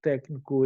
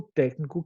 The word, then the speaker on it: técnico: palavra técnico é acentuada a palavra técnico é acentuada por que toda proparoxítona é acentuada ou seja toda palavra que a antepenúltima sílaba seja a tônica ela deve ser acentuada tudo bem tranquilo então